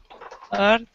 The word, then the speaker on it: earth: Earth, north. So south, ow, nor, but it's not orth, so it's not the same as north. Birth, work, were, birth, earth. It does rhyme with birth.